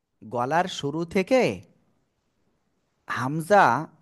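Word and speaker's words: همزة: দিব আপনাদের আমি বলি হামজাহ জোরে বলতে হবে হামজাহ আপনারা কিন্তু বলতেছেন না হামজাহ মিশকা আপনি বলেন মিশকান মিউট হয়ে নিবেন সিফাত এদিকে এই যে হামজা এ অক্ষরে কোন টেনে পড়া যাবে না হামজা হামজা হামজা ঠিক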